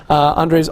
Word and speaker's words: Andre: And with no further ado, please join me in welcoming Andrew.